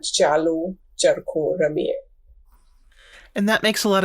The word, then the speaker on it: Chalo Charkha Ramiye: Can you tell me how to pronounce that? Chalo Charkha? It is Chalo Charkha Ramiye.